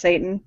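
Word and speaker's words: seitan: of um uh like it's pronounced Satan but like I don't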